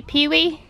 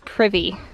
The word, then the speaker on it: Pee Wee: do you say say pee wee it sounds like he says privy when he says my name so now they're calling me privy that's terrible see you